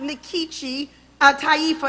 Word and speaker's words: Nkechi Taifa: I said, well, I pronounce it Nkechi Taifa, and then I'm thinking, well, you know, actually, if I were in Nigeria, it would be Nkechi, not Nkechi, because when I got